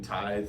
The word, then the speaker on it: Tithe: confused is our name people don't know how to say it it's kind of funny uh so many like closings I go to title agents are like oh you're with teeth you know or something